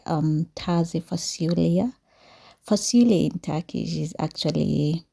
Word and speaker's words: Taze Fasulye: It is one of my favorite that I have loved lately, and its name actually they normally say it like Taze Fasulye.